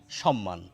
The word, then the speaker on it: সম্মান: করা হয় সম্মান কিন্তু প্রমিত উচ্চারণে আমরা দন্তস এর উচ্চারণ তালব্য স এর মতো করি এস এইচ এর মত করি সুতরাং আমাদের এটিকেও বাদ দিয়ে এটি বলা উচিত সম্মান